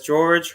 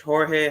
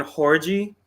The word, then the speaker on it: Jorge: uh my name is George Jorge however you want to pronounce it I respon to both um honestly it depends on what language you're speaking to me whether English or Spanish but doesn't make a